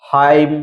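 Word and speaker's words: hymn: इसी तरह कॉलम, फिर है हाइम, तो इन चारों वर्ड में आप देख सकते हैं यम एन साथ में आया है, इसलिए यहाँ पर यन का उच्चारण नहीं हुआ है, यन साइलेंट है, सीधा यम का उच्चारण किया गया है।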